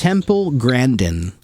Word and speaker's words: Temple Grandin: How pronounce it? Temple Grandin.